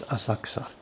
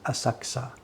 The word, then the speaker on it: Asakusa: So for the place we live, just pretend there's no U in there, and you're not going to be far wrong. Just pretend it's Asakusa. A-S-A-K-S-A, Asakusa, Asakusa.